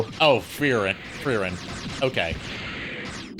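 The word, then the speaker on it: Frieren: Freren.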